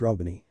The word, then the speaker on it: RWBNY: R wbny A an pronounced Roby like combining Ruby and Ebony together for those of you